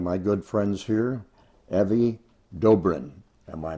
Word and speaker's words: Dobrin: So on this edition I get a chance to meet one of my good friends here Evie Doorin. Am I pronouncing that correctly?